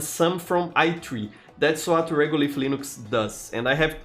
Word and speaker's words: Regolith: It's spelled R-E-G-O-L-I-T-H, Regolith.